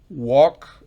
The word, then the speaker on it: walk: Recuerden, el verbo walk, de caminar, la L está presente, pero fonéticamente no existe.